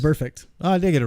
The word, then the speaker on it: Vontaze Burfict: Burfict.